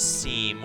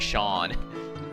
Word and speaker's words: Seam: I kept mispronouncing as seam whenever I played it the first time. Even though he directly said it's pronounced like Shawn, you could barely see it.